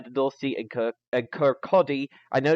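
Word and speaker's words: Kirkcaldy: you go via the north SE and and Kodi I know it's spelled kir k c a l d y but it's pronounced kotti it's don't ask me why and then you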